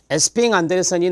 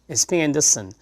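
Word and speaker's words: Esping-Andersen: 자, 그리고 에스핑 안데르센이 나와요. 에스핑 앤더슨이라고도 발음을 하는데요.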